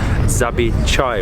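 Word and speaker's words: Zavičaj: So that food was incredible, and we've just learned from the waiter that you pronounce the restaurant Zabi Chai, which is like a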